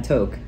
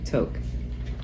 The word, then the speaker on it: Tok: And she said, don't even get me started on toke. It's T-O-K, toke. So, and I'll put... People probably call it talk.